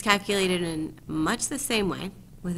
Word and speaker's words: mu: is the population mean so it's calculated in much the same way with its own notation so